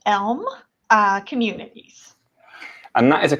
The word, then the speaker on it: Elme: It is pronounced Elme Communities.